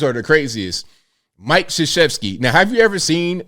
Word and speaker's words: Krzyzewski: Mike, the name starts with a K, but it's pronounced Krzyzewski.